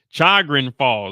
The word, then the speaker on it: Chagrin Falls: Falls Ohio Charan car charin I can't even pronounce that Chagrin Chagrin Chagrin Chagrin Falls there we go chran Falls Ohio okay let's